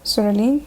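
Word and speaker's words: psoralen: however is topical photosynthesizer soreline with silent P followed by ultraviolet arrays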